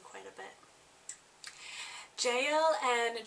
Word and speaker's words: Jael: And Jael means wild mountain goat and can also be pronounced Yale.